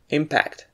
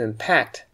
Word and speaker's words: impact: thing against another and we stress the first syllable impact like in the following sentences before impact the